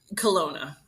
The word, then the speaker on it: Kelowna: Colona.